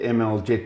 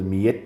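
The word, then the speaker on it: Mljet: Well, the people call it ML Jet, Marker Leafs Jet, but that's not its name. The horse's name is actually Mijet, named after a town in Croatia.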